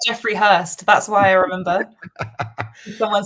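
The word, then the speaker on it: Høst: I think it's pronounced Host. It's Hurst. Hurst. There you go.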